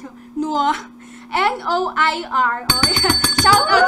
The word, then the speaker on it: Noir: Paano ba i-pronounce yun? Noir.